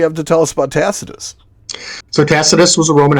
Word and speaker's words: Tacitus: have a problem with yeah how would you pronounce it well I I would call it tacitus but it's that's correct but there's a word